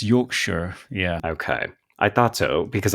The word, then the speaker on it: Yorkshire: Yorkshire or Yorkshire it's Yorkshire yeah okay I thought because I know Yorkshire puddings yes exactly yeah no you never pronounce the shes unless you're in Lord of the Rings right yes yes okay